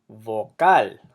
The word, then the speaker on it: vocal: amor which means love so these words emphasize the last syllable because they end in a letter that is not a vowel not an N and